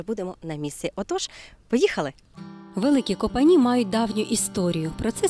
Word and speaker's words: Великі Копані: Ми вирушаємо у село Великі Копані але місцеві жителі називають його трішки інакше великі капані і взагалі усі слова з літерою о вони звикли вимовляти як А помідори малаци халаци Чому